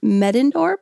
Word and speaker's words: Medendorp: Diana Medendorp. I'm so sorry if I got your name wrong.